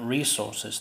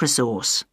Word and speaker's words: resource: British English this word is pronounced resource different resources the stresses on the first syllable but in Australian English the stress is on the second syllable listen to her again